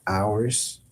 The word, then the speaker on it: ours: So, it's spelled o u r s, like ours, but it's in French, it's just ours.